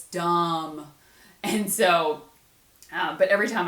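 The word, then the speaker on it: Damm: But growing up, my maiden name was Dom, D-A-M-M, 2 M's. And so every time like I see this, Damned, because forever people would call me Dam, because it's spelled D-A-M-M, but it's Dom.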